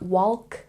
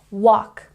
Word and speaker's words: walk: silent some examples include walk it's not walk no no no it's walk and this one talk